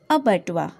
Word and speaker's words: abattoir: a b a double t o i r ubatwa this picture shows the meaning of a bedwa